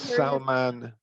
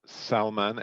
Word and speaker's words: Salman: great dinner oh someone's asked the name it's salman sorry somebody asked the name for the culture salman s-a-l-m-a-n-n hectar a-k-h-t-a-r and he said for the first